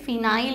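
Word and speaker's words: phenyl: वन पे फेनिल है फेनिल की स्पेलिंग याद रखेंगे प से शुरू होता है है ना इसलिए तो मैं कहती हूं इसको थोड़ा इंग्लिश में पढ़ो तो देखो थ्री क्लोरो ठीक है और वन पे फिनाइल है चाहे तो फेनिल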